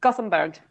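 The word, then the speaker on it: Gothenburg: J I can't gothberg Gotham no it's gothamberg it's the English pronunciation of Jor oh okay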